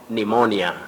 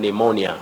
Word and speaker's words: pneumonia: Locally, we would always hear about pneumonia. Yes. Pneumonia. Suffering from pneumonia. But Betty, when we are getting the pronunciation of that word accurately or correctly, we say pneumonia.